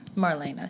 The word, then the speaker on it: Marlena: Marlena, yes.